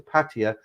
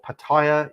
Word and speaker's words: Pattaya: If you're a single guy and you go to Pattaya or Pattaya, I get ribbed on that as well.